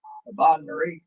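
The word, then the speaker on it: bain-marie: held over yeah that's a big bomie wow Bon Marie Bon Marie SP b a i n hyen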